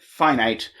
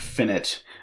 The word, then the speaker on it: finite: if a set isn't finite we call it infinite another weird bit just of nomenclature is that for some reason we pronounce this word finite but this word infinite uh and we just